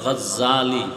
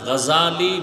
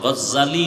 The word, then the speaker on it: গাজ্জালি: না জাহাল নাম হলো ইমাম বলে গাজ্জালি না গাজালি বিশুদ্ধ উচ্চারণ গাজ্জালি না আর আল্লাহ যদি কবুল